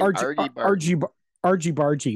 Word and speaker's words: Argy Bargy: Argy Bargy is how it's pronounced.